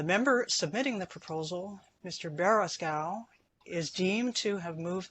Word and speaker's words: Beraskow: I'm now a little worried about how I'm going to pronounce your name. Mr. Baraskow, you have the floor for 2 minutes, and my apologies for mispronouncing your name.